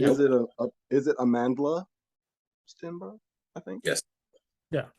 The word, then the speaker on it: Amandla: it is it Amandla Stenberg? I think. Yes. Yeah. Okay. Oh, did I add an extra syllable in there? You Amanda. removed an L.